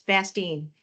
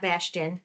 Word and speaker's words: Bastine: It's Bastine, not Bastion. There's not an H in there.